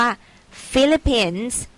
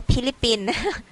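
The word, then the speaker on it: Philippines: s of เสียง ว่า ฟิลิปปินส์ ตัว PS ใน ที่ นี้ นะ คะ จะ ออก เป็น for fun เนอะ ไม่ ออก เสียง ว่า พิลิปปิน ฟิลิปปินส์ ส่วน เชื้อ ชาติ ของ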